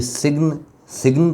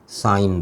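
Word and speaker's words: sign: ली गई, लेकिन अब अगर मैं इसको अलग करने के बाद पढ़ने की कोशिश करूँगा तो ये सिग्न तो नहीं पढ़ा जाएगा, साइन पढ़ा जाएगा।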